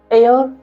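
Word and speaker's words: heir: royal attorney general the एयर apparent इसको हेयर और नहीं पढ़ते इसको एयर पढ़ते हैं इसमें ए साइलेंट टाइप हमको दिखाई नहीं दे रहा लेकिन ए साइलेंट इसमें रहता है ठीक है अगला हम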